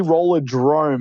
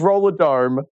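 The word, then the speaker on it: Rollerdrome: cool yes that's right you're missing an r in the in the name it's actually roller drum it's going to be hard everyone's going to pronounce this game forever i believe i really thought it was roller dome there you have it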